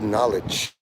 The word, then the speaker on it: knowledge: The word no is in the middle of knowledge. And just like in Cumtown, maybe the real N-word is knowledge. The K is silent.